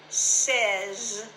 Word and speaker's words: says: He or she or it says something. Notice the s e z over to one side.